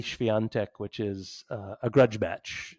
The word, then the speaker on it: Świątek: And then we've got Iga Świątek, the Polish woman. I feel like that was great pronunciation, by the way.